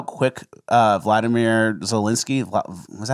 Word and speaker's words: Volodymyr Zelensky: Did you know how quick Vladimir Zelensky, was that how you say it? Volodymyr Zelensky.